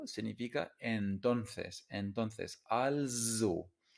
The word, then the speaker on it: also: Also significa entonces, entonces, also. Y se pronuncia con la z, con una z, also, also.